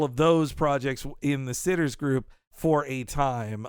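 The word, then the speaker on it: Citters: to this man because I did mispronounce his name on who frame Roger Rabbit Daryl van sits not kitters sitter okay sitters it's spelled c i t t RS uh but he as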